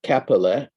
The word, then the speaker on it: Käppeli: My guest was once again Käppeli, and that's spelled Kaeppeli.